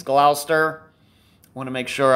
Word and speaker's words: Gloucester: up here is Gloucester and yes it is pronounced the Gloucester it's not Glau Chester or Gloucester or anything like that it's Gloucester I want to make sure I pronounce it